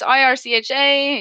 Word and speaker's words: Ircha: So yeah, it's IRCHA, it's Ircha Gaming, but no one really understands how it's said.